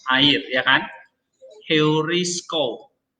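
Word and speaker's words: εὑρίσκω: Heurisko. Nah, itu diucapkan seperti suara H.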